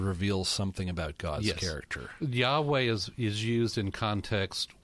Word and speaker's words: Yahweh: introduced by the lord to moses and it's pronounced yahweh and yahweh is of course the word jehovah